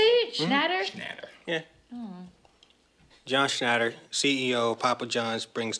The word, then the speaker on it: Schnatter: John Schnatter, CEO of Papa John's, brings tons of money to the company that I work for.